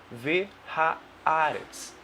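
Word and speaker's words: והארץ: Bem devagarzinho a pronúncia para você entender. Então, a primeira palavra que nós temos aqui é Vehaaretz.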